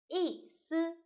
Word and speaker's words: 意思: So this one should be light and short. 思, 思. This one, 意. Actually, it's just E and first tone. E, 意思, 意思.